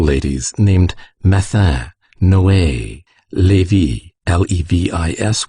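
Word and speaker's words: Levis: named mattha noe levy l-e-v-i-s which was pronounced levi cambis c a m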